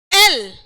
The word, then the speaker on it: L: Real pronunciation तो ये है एल, और एल का साउंड जो है यल, यल में य आ रहा है और एल में ए आ रहा है।